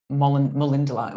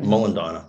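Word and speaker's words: Molendinar: And so I would say things like Molindala. Hang on, which is the right one? I forget. Molindina. Right. Okay.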